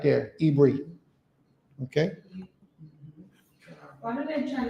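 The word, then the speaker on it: עברי: Yeah. Is how you say Hebrew in Hebrew.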